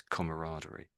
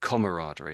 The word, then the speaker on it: camaraderie: and you have this camaraderie. So, I'm saying camaraderie and they're saying camaraderie. Camaraderie. Interesting. How do the Americans say my the way I'm saying it?